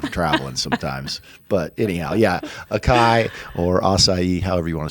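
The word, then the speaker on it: açaí: We do acai bowls too as well. A lot of people are in the craze of acai bowls or acai bowls.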